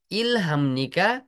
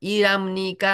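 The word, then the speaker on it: 일합니까: दिनमा मेक्सिकन कति घन्टा इलाम्निका काम गर्नुहुन्छ? यो वास्तवमा इराम्निका हुन्छ पछि है, इराम्निका भन्नु होला, इलाम्निदा इलाम्निका भन्न पनि सकिने भयो सामान्य तरिकाले बुझ्दाखेरि, तर वास्तवमा यसको उच्चारण चाहिँ इराम्निका भन्ने हुन्छ सँगसँगै आएको अवस्थामा है।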